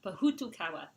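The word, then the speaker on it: Pōhutukawa: So, Pahutukawa. Yeah. That's the way to say it.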